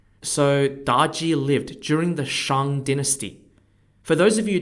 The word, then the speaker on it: Shang: at the time so daji lived during the Shang Dynasty for those of you who don't know